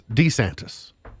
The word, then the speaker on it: DeSantis: heard Ron DeSantis say his name was DeSantis like we're all just going we're all saying DeSantis but with the emphasis on the D like Hernando de Soto so d e and